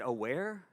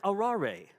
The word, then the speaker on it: aware: that he says a-w-a-r-e I said aware he says aurari he says not aware and I said but it sounds like aware and he says no